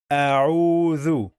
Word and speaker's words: أعوذ: We don't say au, oo. No, we must say au.